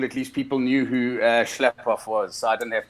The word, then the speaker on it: Schlaphoff: So I've had a lot of trouble with that surname all the way since school, but it's Schlaphoff. Schlaphoff. It's a German surname, but we're very much South African.